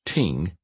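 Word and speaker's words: 听: gave tremendous insight into the concept the word pronounced Ting is made up of smaller symbols with specific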